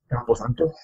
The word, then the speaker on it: Campo Santo: The developer's name is Campo Santo, I want to say. I don't know if that's how you pronounce it, but Campo Santo. Campo Santo.